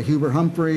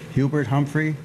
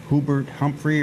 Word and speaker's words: Hubert Humphrey: Bunyan okay but was Hubert Humphrey from Minnesota Hubert Humphrey yeah there was a joke are someone made a slip up once pronouncing his name who Burt Humphrey er it was really a hard name for